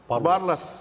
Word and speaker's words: Barlas: ufak Evet Evet kesinlikle Barlas barul barul barul Barlas iki şekilde de telaffuz ediliyor bu aşiret yani Türk